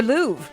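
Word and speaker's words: Louvre: How about uh the Louv? There's technically a little R.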